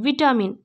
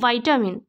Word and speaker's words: vitamin: ভাষা শিক্ষণে হচ্ছে, ধরুন আপনারা পড়ছেন VITAMIN, ভিটামিন, বাট পরে আপনি শুনে শুনে কি বুঝছেন যে না, এটা তো অ্যাকচুয়ালি ভাইটামিন। আমরা তো ভিটামিন বলে দিই, কিন্তু ইংলিশের প্রোনাউন্সিয়েশন কি? ভাইটামিন।